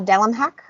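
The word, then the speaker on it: Delemhach: I have mentioned it before, but The House Witch by Delmhak. That is officially how you pronounce it.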